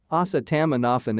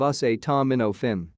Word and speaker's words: acetaminophen: butchered the pronunciation of acetaminophen for way too long asa tamanoffen instead of us a tom minnow finn it is my favorite